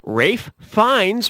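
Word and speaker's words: Ralph Fiennes: Rafe Fiennes rhymes with Safe Pines.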